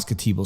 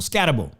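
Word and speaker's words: Skattebo: How do I pronounce his name? Skat. It's not Scatbo. Scatabo.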